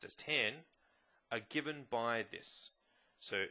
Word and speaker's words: tan: pronounced sine cosine pronounced cos and tangent present pronounced as 10 are given by this so sine ratio cosine